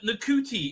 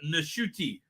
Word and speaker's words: Nashuti: Apparently, Nakuti is spelled wrong, pronounced wrong. It should be Rwandan Nashuti.